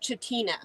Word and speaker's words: Chitina: really want to ruin it it looks like chatina yes that's how it's pronounced written but yeah i actually lived there